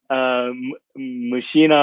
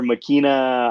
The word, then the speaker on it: Machina: It's like Machina or Makina, I don't know how they want to pronounce it. I say Machina.